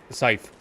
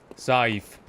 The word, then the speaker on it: scythe: Scythe. Scythe. I looked it up. Apparently that's the proper pronunciation.